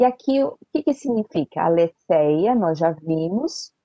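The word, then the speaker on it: ἀληθείᾳ: Ale senha da Tiggo aleteia não se pronuncia né o iota subscrito mas a gente sabe que tem quando é dativo acusativo a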